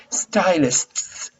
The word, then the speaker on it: stylists: to pronounce stylists because you have to pronounce the s and t and s stylists hair stylists it's difficult